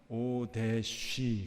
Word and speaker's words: 오뎃: 발음이 히브리 발음으로 읽어보면은 오데쉬, 그렇습니다. 오데쉬. 예. 히브리 발음이 이렇게 바람 소리가 많이 나거든요.